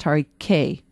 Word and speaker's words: Tariquet: throw in Domaine du Tariquet, Tariquet, but it's pronounced Tariquet.